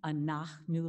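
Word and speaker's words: אנחנו: The A's are like the A's in father, ah, anachnu lach. And if you can't get the h sound, that's fine. Just put in a K, anachnu lach.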